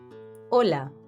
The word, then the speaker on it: hola: saludos informales informal greetings hola it means hello hi hola you reply by saying hola hola notice how the H is silent we say hola not